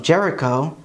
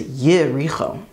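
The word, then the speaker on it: יריחו: The city of Jericho is Yericho.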